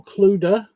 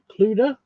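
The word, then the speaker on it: Clodagh: Um Oh, Clud Clud. Um, C l O D A G H.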